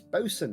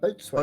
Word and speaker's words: bosun: It's bosun, not boatswain. Bosun. Okay, listen.